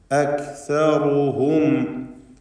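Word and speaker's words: أكثرهم: അക്സറു റു റു റായിനെ തഫ്ഖീം ചെയ്യണം, തടിപ്പിക്കണം റായിനെ. അക്സറുഹും ലാ യഅലമൂൻ. സാക്കിനത്ത് മീം ശേഷം ലാമുമാണ്. ഇൽഹാർ ഷഫവി നൽകി മീമിനെ മണിക്കാതെ വെളിവാക്കുക. അക്സറുഹും, ഹും എന്ന് മണിച്ചു പോകരുത്.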